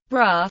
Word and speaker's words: Braga: bragger Portuguese pronunciation bra is a city in